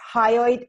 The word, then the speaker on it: hyoid: this in relation to the first card when it's spelled H y ou ID its hyoid bone oh hi Lloyd yes it's the only